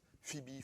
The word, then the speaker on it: Phoebe: en a une diaconesse, Phoebe, Phobé, ça dépend comment vous le prononcez.